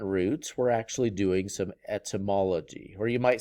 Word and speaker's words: etymology: All right, this word number 7 here is pronounced etymology.